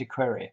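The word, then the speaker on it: equerry: Marines at that time the equery is pronounced equery and varies according to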